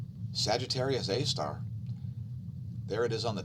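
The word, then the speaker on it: Sagittarius A*: The core of the galaxy is called Sagittarius A star. That's how it's pronounced, SGR space A asterisk.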